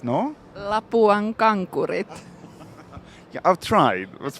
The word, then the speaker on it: Lapuan Kankurit: So difficult is pronouncing the brand name Lapuan Kankurit. No. Lapuan Kankurit.